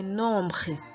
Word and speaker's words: nombres: Please note the pronunciation of that word, les nombres, nombre, nombre. Note how we pronounce the R in French, and I hope you enjoy this lesson.